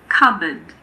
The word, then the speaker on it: cupboard: There are also a few other random words with silent Ps. For example, coup, cupboard, raspberry, receipt.